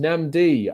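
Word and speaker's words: Nnamdi: Namdi says, my name is pronounced Namdi.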